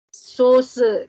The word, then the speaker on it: Soße: S yang ini agak Z. Oke, misalnya saus. Nah, kalau saus bahasa Indonesia kan S-nya biasa saus. Saus. Nah, kalau S-nya yang bahasa Jerman, S-nya S biasa gini, Z. Soße, contoh.